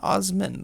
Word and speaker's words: Osman: with another Science Tech YouTuber William osbon osbin Osman that's how it's actually pronounced Michael and William were pretty similarly sized